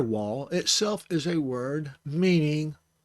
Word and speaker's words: Waw: And the letter Waw is spelled Waw, Waw. And the sound that follows the W sound would be the Ah sound.